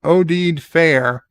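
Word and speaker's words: Oded Fehr: a Starfleet ad Al ODed Fair pronounced odid fair was a big actor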